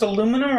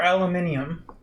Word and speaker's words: aluminum: you answer the question is this pronounced aluminum or aluminium depends where you are yeah I'm just wondering